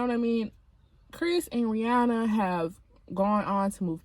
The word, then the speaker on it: Rihanna: But Chris Brown came out with a documentary, and he had just explained, like, Rihanna, that's Rihanna. I mean Rihanna, because I think that's how she wants you to pronounce her name.